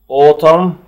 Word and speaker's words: autumn: season فصل، spring فصل الربيع، summer فصل الصيف، autumn وفيها ان سايلنت لا تنطق وتساوي كلمة فول اللي هو فصل الخريف،